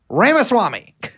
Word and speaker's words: Ramaswamy: it's like could be a lot of people Rama Swami how do you want me to say it's it's ramaswami you say it however you want Ramis Swami he Vivic ramaswami is just like he's like one of these